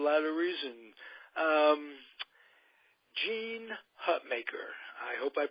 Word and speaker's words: Hutmaker: for for a lot of Reason um Jean hutmaker I hope I pronounced that right as uh my want to